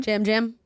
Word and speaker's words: Yam Yam: Jam Jam? Is that how you say it? I'm looking at the thing and it's... Yeah, it's spelled that way, but it's Jam Jam.